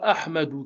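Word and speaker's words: أحمدُ: Le son A sera toujours prononcé. Peu importe où est-ce qu'il se situe dans une phrase. Et donc, si on prend un exemple d'une phrase bien définie, Wa Ahmadou kabirun, qui signifie et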